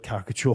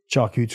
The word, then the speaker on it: charcuterie: Charcuterie. I've never even heard that word, charcuterie. That's how it's spelt, but I sounded it out incorrectly.